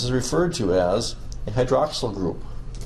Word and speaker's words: hydroxyl: Don't ask me why the first once sounds like this, hydroxyl group, kinda with a short sound, and this one says carbonyl, with a long E sound.